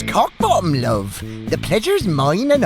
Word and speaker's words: Kochbaum: God, if It's my pronounced queen- Cockbottom, love.